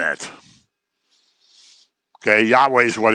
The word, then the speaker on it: Yahweh: capital is god's name yahweh is the closest pronunciation it doesn't have any vowels in it okay yahweh is what it's usually